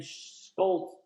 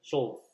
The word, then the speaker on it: Schulz: Schultz Schultz I mean Schultz Schultz I mean Schulz Skull hard pronouncing name Skoles but y'all know what I'm talking about Charles and Scholes Scholes.